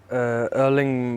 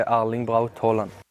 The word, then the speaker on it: Erling: to pronounce this name if you're not in no way you can say erling about Holland and if you're in no way you can say our link : there you go